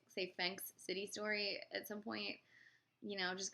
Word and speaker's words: Phenix City: the Phenix City story, which is a film I have been mispronouncing for a very long time because for some reason I never saw the I in the word, so I kept thinking it was the Phenix City story.